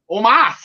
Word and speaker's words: Omos: It's almost like a Mustafa Ali situation. It's not Almost. We were wrong. Omos. We're putting the emphasis on the wrong syllable again.